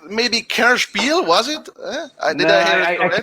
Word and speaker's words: Kennerspiel des Jahres: It was something like maybe Kerspiel, was it? I cannot say it because it's German and only Hjalmar can speak German here.